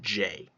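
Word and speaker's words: J.A.: Uh, Cardinal Pirate It It bothers me so much that that's pronounced J. I know. Oh, isn't that terrible? It's It's spelled J A. Both capitalized.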